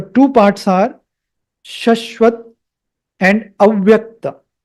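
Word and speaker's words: अव्यक्त: So the two parts are śaśvat and avyakta. Avyakta, not vyakta. Avyakta. You see in English, it starts with A. I started it with A, not with V. So it is avyakta.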